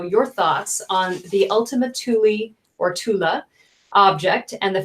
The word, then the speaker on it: Thule: Is it Tula or Thule? The Ultima Thule? Tula Society? Yeah. Thule.